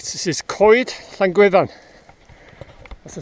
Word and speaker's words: coed: of people pronounce it co-ed as in you'll hear a lot of people as in better so coed but it's not pronounced co-ed it's pronounced coid as if you're saying c-o-y-d coid but you'll hear a